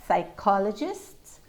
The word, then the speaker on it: psychologists: bill so we got psychologists co receipt we don't hear that p at all absolutely not at the